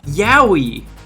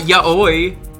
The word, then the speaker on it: yowie: other Khan's like snake It's pronounced yowie not yaoi was there a noise